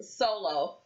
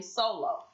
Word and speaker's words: Soullow: He went by the name Sullow, and it's spelled like soul, SOUL. And then LOW, one word, Sullow.